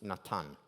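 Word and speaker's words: נתן: You know the name Nathan? In Hebrew, it's Natan.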